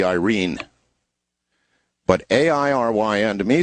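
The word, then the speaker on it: Airyn: my way of thinking, Aaron. It's A-I-R-Y-N, Aaron. But actually, correctly pronounced, as it would be read by a Filipino, would be Irene.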